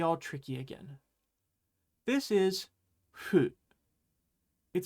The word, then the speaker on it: fu: This is fu. It sounds more like a FU sound than an HU sound. Hey, FU. Fu should almost make a sound like you're blowing.